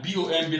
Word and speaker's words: bomb: And B-O-M-B, like I say, they have bombed the place. No, they have not bombed the place. They have bombed the place. B-O-M. The B here is silent. So you pronounce this as bomb and not bomb.